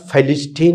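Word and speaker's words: فلسطين: യാസർ അറാഫത്തിൻ്റെ സംഘടനയുടെ പേര് പലസ്തീൻ, ശരിക്കും ഇതിൻ്റെ ഉച്ചാരണം ഫലിസ്റ്റീൻ എന്നാണ് പറയുന്നത്. നമ്മളത് പോകേണ്ട, ആളുകൾക്ക് മനസ്സിലാവില്ല.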